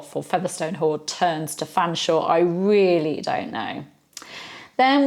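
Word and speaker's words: Featherstonehaugh: earth Featherstone hall for Featherstone hold turns to Fanshawe I really don't know then we've got the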